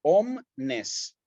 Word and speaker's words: omnes: la penúltima sílaba fíjense sucede lo mismo en omnes por ejemplo no cómo se paró esta palabra en sílaba omness corto acá sí palabra bisílaba el acento va en la penúltima sí dichant lo mismo